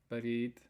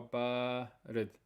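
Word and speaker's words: بارد: Okay, when you're saying it, you have to make sure you pronounce that sound. Don't say barid, or don't say barid. You have to make sure you pronounce the long vowel barid.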